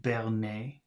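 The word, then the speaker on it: berner: b we have b-e-r-n-e-r so that should be pronounced Bernay and then we have p a s s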